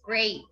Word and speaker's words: great: rated skating what word rhymes with great plate yes great plate thank you